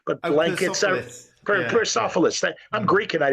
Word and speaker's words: Persepolis: American comics, we were starting to see the Parasopolis, or I'm saying it wrong, but blankets. Persepolis.